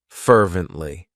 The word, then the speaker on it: fervently: of my favorites fervently it has three syllables and the stress is on that first syllable fervently what it means is that